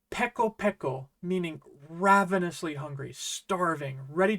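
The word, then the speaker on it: ペコペコ: How would you pronounce this? It's peko peko, meaning ravenously hungry, starving, ready to eat your own shoe.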